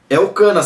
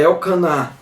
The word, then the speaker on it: Elcaná: Elcana, sabe o marido de Ana? Elcana, né? O mais correto de pronúncia é Elcaná, que significa Deus ciumento.